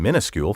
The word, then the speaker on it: minuscule: variant without comment and many also list the pronunciation minuscule first i would argue however that the alternative spelling and pronunciation are not only at variance with the words history but are also quite frankly idiotic look in any dictionary